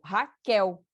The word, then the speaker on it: Raquel: Meu nome, por exemplo, Raquel. O quel é a sílaba forte, tá? Então, é a sílaba tônica.